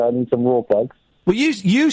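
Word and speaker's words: Rawlplug: But the reason why I pulled back up is you keep saying rule plugs. Raw plugs. Yeah. The L I'm pretty sure the L is silent. I'm pretty sure it's just raw plugs.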